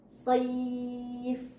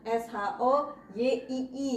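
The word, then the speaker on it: صيف: Sayf dari kalau secara Latin SHO ketemunya Y. Sayf, bukan SHOYII.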